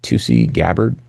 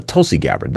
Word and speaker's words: Tulsi Gabbard: fact that, um, uh, what's her name? Tusi Gabbard. Um, she's a Tulsi Gabbard. I'm I said it wrong.